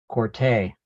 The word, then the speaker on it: Quartey: And we are delighted to have Kwei Quartey. I got it. The accent on the A.